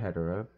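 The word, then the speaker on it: Hedorah: And then, you know, some people pronounce it differently. It's either Hedora or Hedera.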